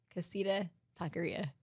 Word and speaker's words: Casita Taqueria: and then lunch okay I always say the name wrong and they like said it to me before I walked out of the door Casita Taqueria I say Casino they're like yeah that's not a place oh my gosh they